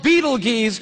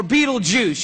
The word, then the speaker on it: Betelgeuse: heard about this star it's called beetle geez or Betelgeuse you can pick your pronunciation I'm obviously going with Beetlejuice and Betelgeuse is incredible